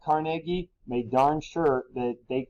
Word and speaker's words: Carnegie: carnegie here i know today we say carnegie hall but the scottish pronunciation is carnegie but gentlemen like him